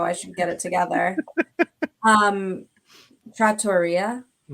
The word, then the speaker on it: trattoria: Trattoria. Is that what it is? It is. Wow, I should get it together. Trattoria. Like pizzeria. Wow, I've been saying it wrong for a long time.